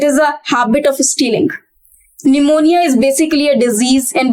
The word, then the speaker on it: pneumonia: Pneumonia is basically a disease in which a person suffers from cold. It is pneumonia, not pneumonia. P is silent over here.